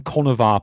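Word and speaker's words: Conchobar: And then you get things where you you can try and use the older pronunciation for like mythical figures and people will have a clue what you're talking about where it's like, oh, King Connor of I keep whacking my mind. King King Connor of Olter. Um like King Connor of Olster, but it's like oh that's actually Connor in older things or uh like different things. And and if you happen to talk about King Konavar, people have a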